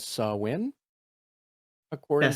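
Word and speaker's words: Samhain: Apparently, as you would read it as Sam Hain, is apparently pronounced as Sawin, That according to sounds better. Google. Um, Sawin.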